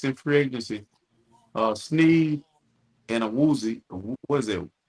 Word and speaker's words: Awuzie: Sneed and a Woozy. What is it? What's how you pronounce it? Awuzie.